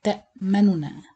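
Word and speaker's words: تَأْمَنَّا: And the second way, you pronounce the noon normally without merging, but you make it like two-thirds of the vowel count. This called raum or ikhtilas. So you read it like ta manuna.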